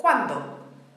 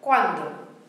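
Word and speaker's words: cuando: Very common example, quando. Two syllable word, quando.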